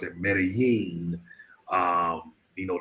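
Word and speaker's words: Medellín: some people pronounce it medellin um you know the double l make the yo sound but particularly in medellin the double l's make a j that's how they say it the locals have corrected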